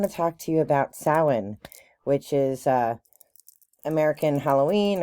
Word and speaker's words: Samhain: from announce no matter how it's spelled it's pronounced sawen is the uh cultural um backdrop like the